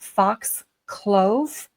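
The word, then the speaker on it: Fox Clough: We we see her again and she's explaining um she lives at Fox Clove. It's C L O U G H. And you know, you can pronounce the O U G word many, many different ways.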